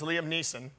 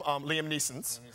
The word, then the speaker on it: Liam Neeson: So their favorite movie star is Liam Neeson, but they call him Liam Neeson's. They also are big fans of Robert Downey Jr.'s.